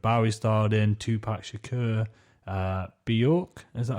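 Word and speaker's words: Björk: So there's films with that David Bowie starred in, Tupac Shakur, Bjork, is that how you say her name?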